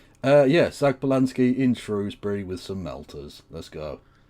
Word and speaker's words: Shrewsbury: Also, like nobody calls Shrewsbury Shrosbury in Shrewsbury. Yeah, Shrewsbury. I don't know where that pronunciation came from.